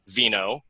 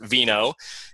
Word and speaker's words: Veno: Veno. And that is how you pronounce his name, right? Veno. That's right. Just like just like wine.